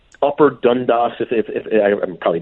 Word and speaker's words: Dundas: 4 miles all the way from like Upper Dundas. If I'm probably mispronouncing. No, Dundas is correct.